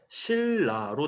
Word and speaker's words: 신라: 그 길을 합니다 그리고 신라의 경우에는 우리가 발음을 할 때 신라로 되고 신라가 되는 순간 밀 리 우리 연속으로 오기 때문에 si la 이렇게 표기를 해 줍니다 네번째로 닝 관리 우리